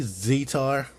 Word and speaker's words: Zetar: top of his head and I say Z tar I say that I pronounce it that way because Z ETA is Zeta so I figure is a tar but I guess you